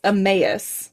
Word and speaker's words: Emmaus: Is that how you pronounce it? It's Emmaus.